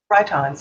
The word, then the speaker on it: Rhytons: Rhytons, yeah.